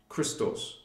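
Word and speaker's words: Krystos: You want your consciousness back, your Christ consciousness, Christos. The guardians call it Christos. And we spell it K-R-Y-S-T-O-S.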